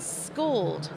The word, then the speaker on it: Skuld: today about your new venture which is called schooled right s-k-u-l-d thank you for correcting my pronunciation so i know you've been in around